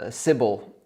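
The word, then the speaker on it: Sybil: now I'm particularly interested in solutions to the civil attack problem to me it seems like a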